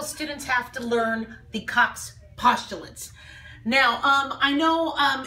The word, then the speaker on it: Koch: postulates now I know it could be pronounced a variety of different way Kooks coaches I have learned them cops postulates so however way you want to pronounce it is absolutely fine with me and in a very